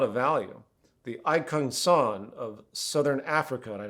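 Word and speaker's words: !Kung San: The Aikung San of Southern Africa, and I know I'm saying that wrong, it's spelled exclamation part K-U-N-G space S-A-N, they are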